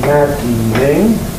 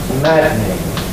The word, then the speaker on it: maddening: Third example, maddening. Slower pronunciation, maddening, or possibly maddening, three syllables. A faster one, maddening, two syllables.